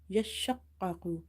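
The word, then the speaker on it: يشقق: So whenever you see the shadda, emphasize on the letter in order to pronounce it twice.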